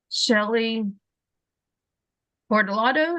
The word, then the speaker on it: Shelley Portolato: Today, we are here with Shelley Portolato.